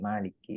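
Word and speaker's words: مالك: Maliki yaumiddin atau e bahkan ditulisnya Maliki e pendek tidak ada mad tiinya tapi dibacanya panjang Maliki itu seperti eh seperti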